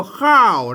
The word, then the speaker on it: ข้าว: เท่า กัน นะ ครับ คือ อ่าน ออก เสียง คอ นั่น แหละ ครับ ไม่ ใช่ คลอ นะ ไม่ ใช่ คอรอ นะ ครับ อ่าน ว่า ข้าว นั้น นะ ครับ อ่าน